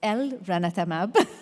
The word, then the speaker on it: elranatamab: And then if we look at elranatamab, I have to say it correctly like you, so it's elranatamab.